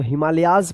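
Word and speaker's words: Himalayas: तो हिमालयज पढ़ेंगे इसको।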